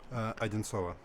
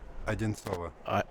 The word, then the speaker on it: Одинцово: Одинцово. It's about 2 hours. Say it slower. Одинцово.